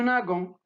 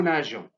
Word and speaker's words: nageons: Si je le supprime, je vais lire nous nagons. Donc, pour garder le son J à nager, j'ajoute E entre le radical nage et la terminaison ENS. Je lis nous nageons.